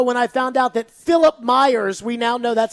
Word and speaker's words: Philip Myers: on the show when I found out that Philip Myers, we now know that's how his name is pronounced. It is indeed Philip. We were putting a little bit too much spice into it. Yes. Philip Myers, we now learned that his name is Philip